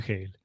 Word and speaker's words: Hegel: si dicen eje hay algunos que son militantes del Castellano entonces dicen No yo lo leo como se lo pronuncio como se escribe y bueno Entonces en ese caso ya no tengo nada que decir pero que sea por eso y no por no saber que se que se dice gel bueno fíjense que tuve